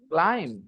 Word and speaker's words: climb: that b was silent nobody told us that b was silent I didn't know this